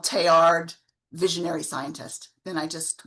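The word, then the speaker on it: Teilhard: that all of these things are connected um Tayard was a scientist um who loved I mean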